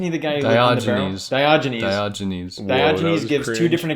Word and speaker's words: Diogenes: at the age of 73 oh i'm gonna mispronounce this and this is a real person so dia diagenius isn't he the guy who's diagnosed diogenes diogenes diogenes gives two different accounts of a